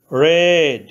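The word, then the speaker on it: read: রেড past participle অ verb 3। Verb 2-তে রিড ভার্বের past tense একই বানান কিন্তু উচ্চারণ রেড হয়েছে।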